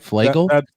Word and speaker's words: Flagle: Jonathan, did I get that right? Flagle? That's the pronunciation, yes.